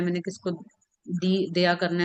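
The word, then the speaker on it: der: जिस चीज को हम मैस्कुलिन कंसीडर करेंगे उसका आर्टिकल हम लिखते हैं दया। ठीक है? आप देख रहे होंगे मैंने देयर नहीं कह रही मैं। आर को हम साइलेंट पढ़ते हैं।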